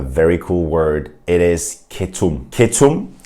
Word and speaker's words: ketum: It kind of sounds like the state of ketosis where you don't eat any carbohydrates and your body starts burning fat.